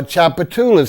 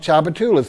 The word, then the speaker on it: Tchoupitoulas: that name well that is chopped short for Tchoupitoulas Street New Orleans has one just like we mentioned the Tchoupitoulas Indians we have a phenomenal street that runs from downtown all the way uptown called Tchoupitoulas TCH oup i tou la s that's a